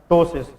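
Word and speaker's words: ptosis: इ known as टसिस लेकिन toast का जो स्पेलिंग है ट पीटी ओ एस आई एस इसमें साइलेंट है ट कॉल्ड टोस प इस में साइलेंट होता है लेकिन लिखा जाता है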